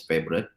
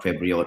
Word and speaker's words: Favoriot: building up uh favorite we pronounce the company as favorite not fabot or faot but is favorite so it started in